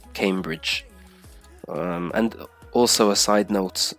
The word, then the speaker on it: Cambridge: And then Cambridge, yeah, not Cambridge, it's Cambridge.